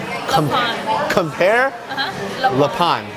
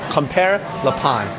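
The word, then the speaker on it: Compère Lapin: How do you pronounce the name of the restaurant? Compare Le Pond? Yeah. Compare Le Pond. Compare Le Pond.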